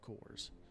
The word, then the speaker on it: corps: do rifle cores corkers the plural of core whatever it is I know it's a French word and they in many cases do not use the you know they don't pronounce the S so even in the plural form that a lot of times they don't pronounce s which doesn't bother me